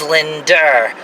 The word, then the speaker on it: Linda: Like the name Brenda is Brender. Linda is Linder.